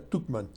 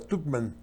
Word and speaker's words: Tuchman: Tuchman, creo que se pronuncia Tuchman.